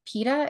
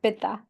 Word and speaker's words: pitta: So I did your quiz and I found out I'm a PETA. Is that the right way to say it? Yeah, pitta.